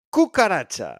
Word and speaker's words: cucaracha: So it's pronounced like a K when it's followed by an A, O, or U, like in casa, coche, and cucaracha.